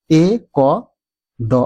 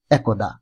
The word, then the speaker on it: একদা: এ ক দ আকার এই শব্দটিকে আমরা অনেকেই উচ্চারণ করি এক দা আবার অনেকেই করি একদা প্রশ্ন হচ্ছে শুদ্ধ উচ্চারণ কোনটি ব্যাকরণের নিয়ম অনুযায়ী শুদ্ধ উচ্চারণ হবে এক একদা শুদ্ধ উচ্চারণ একদা একদা নয় আরেকটি শব্দ রয়েছে অত্যন্ত